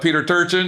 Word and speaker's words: Turchin: And I know your buddy Turchin, right? Did I say his name right? Yeah, Peter Turchin, yep.